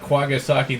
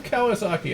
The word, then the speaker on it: Kawasaki: the US the newscaster could not pronounce ran rental wall Kawasaki so he pronounced it quagga sake there's not even a G in the name what do you get quartered sake from Kawasaki I ask you oh